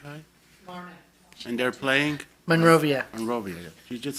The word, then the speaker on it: Monrovia: game from Burbank Kai and they're playing Monrovia Monrovia you just said it right yeah yes sorry I just brain I just remember she mentioned something at manuia and if they win what's next depends who